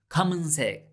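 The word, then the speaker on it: 검은색: friend come back in come in reminds us that black in korean is kamen sec how do you say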